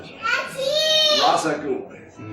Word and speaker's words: Ra's al Ghul: so that's great that's something that he father Ra's al Ghul is how it's pronounced do you notice on the show that's